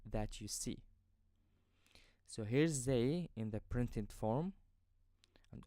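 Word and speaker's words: زاي: Now let's move to the last letter in this video, which is zay. Zay. I pronounce this letter as a zay sound in 0.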